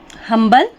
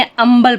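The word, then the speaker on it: humble: ईमानदार उसी तरह से हंबल एट से शुरू हुआ है एंड आया है हम हबल नहीं पढ़ेंगे अंबल पढ़ेंगे जिसका मीनिंग होता है विनम्र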